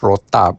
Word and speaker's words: rotab: And the dates that I prefer are called mazafati dates which are very similar to another date called rotab. Mazafati is spelled m a z a f a t i.